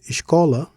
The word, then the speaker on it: escola: As for fizeram and escola, no accents are necessary. Stress falls naturally on the penultimate syllable.